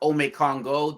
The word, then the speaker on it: Omékongo: And just a quick thing, my name's pronounced Omékongo.